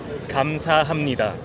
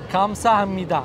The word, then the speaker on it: 감사합니다: how do you pronounce it? 감사합니다. 감사합니다.